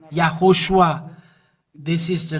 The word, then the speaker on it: Yahushua: uh name and it's from the the Jew yahushua is his name and this is the way to pronounces but the Jesus where is Jesus in